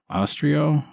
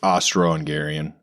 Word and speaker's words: Austro-Hungarian: trip to inspect the is it Austro-Hungarian or Austrio? I don't know. It's Austro-Hungarian. Okay.